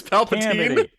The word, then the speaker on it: Palpatine: It's Palpatine.